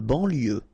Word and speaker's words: banlieue: De banlieue. Okay, final E not pronounced. So, I-E-U, I-E, L, lieu.